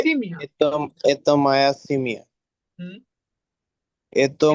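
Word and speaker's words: это: এতো এতো ময়া এ, সিমিয়া। হ্যাঁ, সিমিয়া। এতো মায়া পাপা। এটা মই পাপা, ভাই এটা হবে এতা, এতা আ উচ্চারণ হবে, এতা এটা ময়া মামা।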